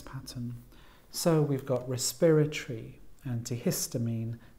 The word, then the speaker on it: antihistamine: the second syllable and then we had antihistamine this time the stress is on the middle syllable it's five syllables so it's antihistamine we then have gastrointestinal